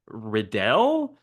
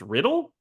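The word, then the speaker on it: Riddell: also I gotta say his name is uh Clayton redell but but John cusak pronounces his own name at one point as riddle and then Samuel Jackson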